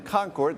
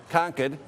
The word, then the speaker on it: Concord: Nidia is in Concord. That's the California in me pronunciation. The proper pronunciation, I've been told many times here, is Concord.